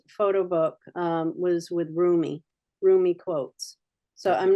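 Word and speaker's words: Rumi: rights to using his work do that rich roomie is spelled Ru m i so a lot of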